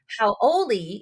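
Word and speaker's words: haoli: okay wait real fast so howly person right is h a o l e and that is Foreigner how oi is h a o l i and um it sounds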